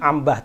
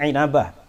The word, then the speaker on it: Inabah: kelima Ibnu inabah inabah inabah bahasanya Bacanya jangan Ambah tapi inabah wafat 828 Hijriah dalam